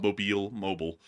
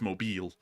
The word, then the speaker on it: Mobile: Don't go to the South and call Mobile. That's the wrong way to pronounce it. It's Mobile.